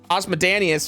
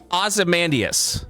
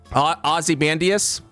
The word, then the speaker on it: Ozymandias: And so Osmodanius, or I'm saying his name wrong, and the comment section is going to tear me up for this, is fine.